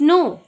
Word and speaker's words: know: grandmas know, KNOW, नो के silent है.